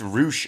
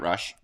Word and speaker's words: Rush: uh John Moxley versus it's roosh apparently not rush it is yeah I was I was uh mispronouncing his name which is fine uh